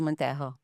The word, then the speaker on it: Montejo: My name is Montejo. So, as you can see from my name, my first name has an English pronunciation, and my surname has a Spanish pronunciation.